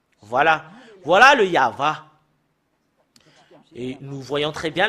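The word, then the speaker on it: יהוה: ici jusque là c'est y voilà voilà le yava et nous voyons très bien le et le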